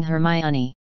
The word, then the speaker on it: Hermione: that i was replacing hermione her name sounds like harmony and that kind of rhymes with pinky i should see if